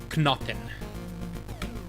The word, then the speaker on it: Knoten: Oh, I have to pronounce the K. Okay. Knoten.